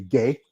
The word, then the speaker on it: Guay: Right here, we have the lovely Miss Gay. And I know it sounds like it's it's spelled different than it actually sounds, but you know how it is in different words.